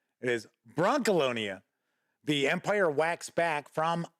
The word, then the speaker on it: Brancalonia: look at Bron alonia no it is not Brock alonia it is Bron Colonia the Empire wax back from acaron games that